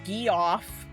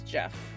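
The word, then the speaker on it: Geoff: Apparently, gee off. Ge off. It's Jeff, but I don't really know why people spell it like that.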